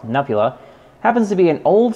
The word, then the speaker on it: Nupehadda: I haven't done a guest profile in a while, and a friend of mine named Nupehadda, or as he pronounces himself, Nupula, happens to be an